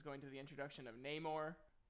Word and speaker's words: Namor: are thinking is going to the introduction of Namor, name that I always pronounce Namer when I was little, and I had like